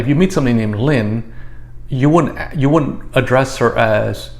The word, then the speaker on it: Linh: the woman's name is Linh because it's pronounced the same way in Vietnamese as it is in English, to keep it simple.